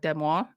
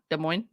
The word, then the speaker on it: Des Moines: we talked about that place and I'm like demois Des Moines Des Moines he believes the women and authorities